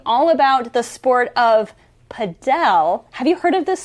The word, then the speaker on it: padel: And some people pronounce it padel, some people pronounce it paddle.